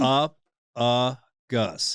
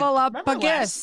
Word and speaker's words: Snuffleupagus: up gus.